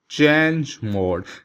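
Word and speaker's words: chmod: next question है, द in Unix और Linux if A command is like CMMOD, जिसको हम प्रोनाउंस करते हैं चेंज मोड, CH stand for चेंज, और ये मोड ये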